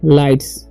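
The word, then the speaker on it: lights: okay, रेटिव, RATIV से रेटिव, राटिव नहीं पढ़ना है, रेटिव पढ़ना है, ठीक है, रेटिव, तो डेकोरेटिव लाइट्स, ठीक है, GH साइलेंट है, लाइट्स, देखिए विथ मतलब होता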